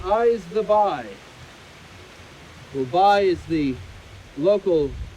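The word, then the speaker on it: b'y: a song from newfoundland it's called eyes the bye dubai is the local pronunciation of the word boy is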